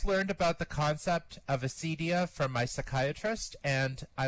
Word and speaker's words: acedia: Acedia, which is pronounced acedia or sometimes Acadia in English, comes from the Greek word acedia or Acadia, meaning lack of care.